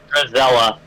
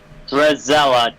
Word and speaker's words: Drizella: Drizella. Say that again? Drizella.